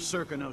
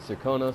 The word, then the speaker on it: Serkonos: We're in this with the Duke of Serkonos, sink or swim. There's no way to turn back now. It's interesting that when you listen to the characters in this game, sometimes they pronounce it Serkonos, sometimes they pronounce it Serkonos.